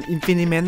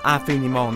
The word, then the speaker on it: Infiniment: เห็น ชื่อ แบบ นี้ อย่า อ่าน infiniment นะ ฮะ อ่าน ว่า afenimal นะ ครับ เป็น ภาษา ฝรั่งเศส นะ ครับ สำหรับ ตัว